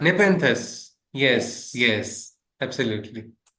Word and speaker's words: Nepenthes: I'm not sure how it's pronounced. Nepenthes.